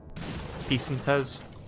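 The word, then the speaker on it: pesetas: Peace and Tiz, that's how you pronounce it apparently.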